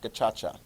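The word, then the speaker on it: gacaca: okay so that's a backlog so Rwanda sets up a new special Criminal system called gachacha it looks like Kaka but it's pronounced gachacha basically what it is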